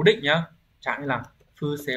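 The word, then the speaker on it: 不正: Đọc là phư xê.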